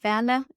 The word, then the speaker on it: Werle: I guess the easiest way is just add me on LinkedIn, Werle in the German pronunciation, and just drop me a message there.